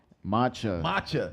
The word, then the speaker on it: matcha: Yes, we're gonna try out some maca tea. Matcha. I said it wrong again.